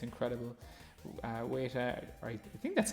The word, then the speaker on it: Weta: Weta, I think that's how you pronounce it, Weta, W-E-T-A.